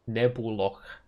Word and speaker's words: Nebuloch: And then when I'm doing delves or any kind of bossing, I'll just slap the Nebulush in. How do you pronounce this? Nebuloch.